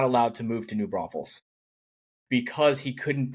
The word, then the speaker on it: New Braunfels: allowed to move to New Braunfels because he couldn't pronounce the name properly. As you know, he added the extra S. There is no Hmm. extra S.